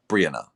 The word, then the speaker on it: Brianna: first syllable, Brianna.